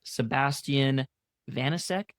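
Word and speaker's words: Sébastien Vaniček: His name is Sebastian Vanisk, I believe, is how you say that name.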